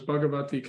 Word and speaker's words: Bhagvati: I'm here okay oh am I saying your name wrong is you're spelling it bhagavati is it yeah okay so it's bhagavati Canada so thank you Prabhu you have the